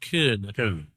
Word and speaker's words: Köln: Well, in English, Cologne. My German's not too hot, but I believe it's pronounced Köln. Köln, yeah.